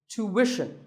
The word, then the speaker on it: tuition: hidden sound here well the first syllable is easy to American or to British but after that it's not ition its mission tuition you have to put the what sound there so tuition word number 41 is